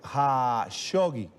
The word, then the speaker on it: Khashoggi: tratar el caso de Jamal Khashoggi o Khashoggi, como se pronuncia correctamente.